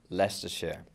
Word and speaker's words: Leicestershire: there somewhere it's a lie it's Esther Shire pronounced Lester share I mean I wrongly pronounced Lester when I